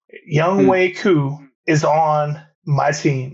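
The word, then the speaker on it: Younghoe: that young way and it's pronounced young way not young ho young way coup is on my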